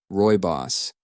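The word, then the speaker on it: Rooibos: that spiff quickly searches and finds the proper pronunciation oh okay Roy boss that's how you say it okay odd right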